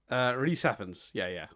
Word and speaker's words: Rhys Ifans: Rhys Ifans.